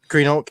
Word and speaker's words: Greenock: And Greenock as in green oak.